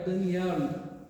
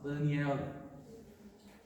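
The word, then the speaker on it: דניאל: A pronúncia em hebraico é Daniel, fecha o L no final, Daniel.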